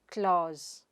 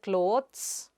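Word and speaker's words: clothes: Whatís the plural of that word; Kloz, Kloz. The /t/ is silent there, so, you donít say k-lo-thes, but Kloz. Itís a /z/ sound there and not /s/.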